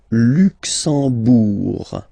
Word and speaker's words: Luxembourg: Le Luxembourg, okay, final G not pronounced, and then when you combine this E-M here, you get the sound en.